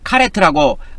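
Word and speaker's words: כָּרֵת: 카라트 이게 카라트에 이거 이제 카라트를 명사형으로 말하자면 카레트라고 어 카레트로 발음하는데 이게 카르트의 제약입니다.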